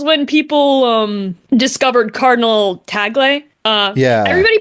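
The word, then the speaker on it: Tagle: care either way but everybody pronounced it like tagel like bagel which okay.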